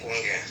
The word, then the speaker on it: Kwangen: Je prononce bien, c'est ça? C'est monsieur Patrick Kwangen.